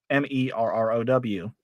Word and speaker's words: Marrow: My last name should be pronounced Marrow, Merrow.